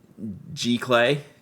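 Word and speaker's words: Giclée: G Clay. G Clay. G Clay. Okay. G Clay.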